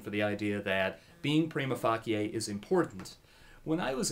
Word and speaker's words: prima facie: Now, the Latin phrase for that, debaters always pronounce wrong. They always say prima facie, and the Latin pronunciation is prima facie, and the translation is on first face.